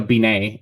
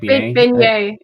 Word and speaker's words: beignet: Beignet. Beignet. How do I say it? I don't know what you said. You said like I think it's similar. Ben, like the name Ben. Beignet.